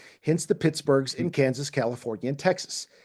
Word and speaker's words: Pittsburgh: Being a Scotsman, Forbes most likely gave Pittsburgh the Scottish treatment and pronounced the founded city like Edinburgh, so it would have sounded something like Pittsburgh, not Pittsburgh, Hmm. when it was first founded.